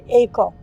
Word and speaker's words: Eiko: a teacher could never pronounce my name eiko now how difficult is echo but he always stumbled